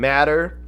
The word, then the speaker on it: MATR: good for them matter m-a-t-r they are it is pronounced matter i saw somebody ask